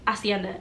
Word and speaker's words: hacienda: I completely forgot that the H in Hacienda is silent I don't know what's